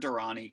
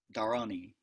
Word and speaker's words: Dharani: mnemonic device it actually it probably should be pronounced durrani like that durrani I'm just going to keep mispronouncing at the American Way though Durrani's in East